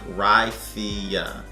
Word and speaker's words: Raicilla: but um on the back it says that ryzea is pronounced it's pronounced ricia meaning small root is a 400 year old